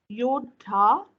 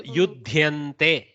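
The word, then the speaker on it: युध्यन्ते: Yodha Yodhante. Now I understand your difficulty again. What happens in a Bengali's mouth, this yakara gets absorbed. She won't pronounce it. So yudhyante.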